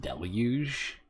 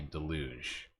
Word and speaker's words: deluge: They brought a boat life jacket and I'm pretty sure it's pronounced deluge. I don't think I've ever heard anybody say deluj there and from there we have to friends they quickly they came and helped us.